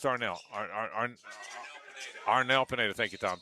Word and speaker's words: Arnel: It's Arnell. Arnell Pineda. Thank you, Tom. Tom Champion, who knows everything about music here. Thank you, Tom. That's why we keep Tom around, because he's got those musical answers. Arnell Pineda.